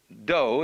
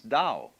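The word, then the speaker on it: dō: Do is the way the Japanese pronounce dow.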